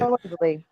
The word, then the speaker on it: Calendly: Calendly.